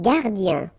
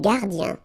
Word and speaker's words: gardien: Alright, then un gardien. I-E-N here, yen, un gardien.